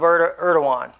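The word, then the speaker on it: Erdoğan: to Syria through Turkey with the help of erdowan Oregon is how he pronounces his name against was more correct what he said Erdogan so as he said he's out of touch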